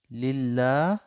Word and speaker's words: লিল্লাহি: আলহামদুলিল্লাহি, লিল্লাহ এক আলিফ টান, লিল্লাহি রব্বিল আলামিন।